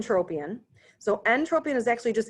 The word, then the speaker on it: entropion: say both those terms so this is n entropion so Entropia is actually just in word rolling